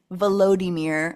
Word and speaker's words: Volodymyr: That is so, they just like pronounce it peculiarly, Volodymyr instead of Vlad.